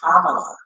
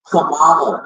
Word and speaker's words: Kamala: That's why we as Black people have a hard time pronouncing her name. And they get mad and try to correct us when we say Kamala. It's Kamala.